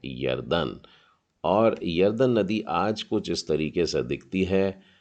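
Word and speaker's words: ירדן: तो इसको पढ़ेंगे हम लोग या र दे न, यारदेन। उच्चारण में हल्का सा थोड़ा सा फर्क है, यारदेन।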